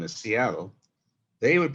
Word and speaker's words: Seattle: you say uh oh there's a gap between the uh and the o so it's a and then